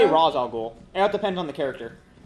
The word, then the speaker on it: Ra's al Ghul: Do they pronounce it correctly in They say Arrow? Ra's al Ghul.